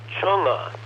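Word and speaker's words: Chang'e: side the mission is called excuse me it's pronounced chonga Chong so chunga 6 and uh let's see it was launched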